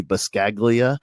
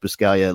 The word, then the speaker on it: Buscaglia: a G like it's I think if I was going to say phonetically it might be bus Kaguya but I think it's pronounced per Scalia Leo Buscaglia and I